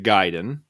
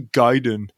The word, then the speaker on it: Gaiden: be all pissed off if you call it ninja gaiden it's actually gaiden so i know that's the wrong way to pronounce it but i'm undoing 30-something